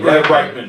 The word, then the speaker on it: Reitman: How do you pronounce his name? Reitman. Reitman.